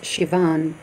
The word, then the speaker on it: Sivan: The Irish word is Sivan and pronounced Shivan.